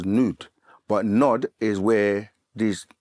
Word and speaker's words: Nod: In the language, it's actually pronounced as Nud.